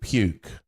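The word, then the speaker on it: Pewc: that there was an annual pagan festival called puke which is spelled PE WC and it is an acronym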